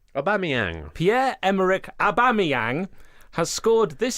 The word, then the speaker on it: Aubameyang: Pierre-Emerick Aubameyang said correctly. Not how you pronounce How his do name. you say it? Aubameyang.